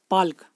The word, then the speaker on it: Palk: इसकी अगर इंग्लिश में स्पेलिंग बताई जाए तो ये है PALK, पाल्क, याद रखेंगे।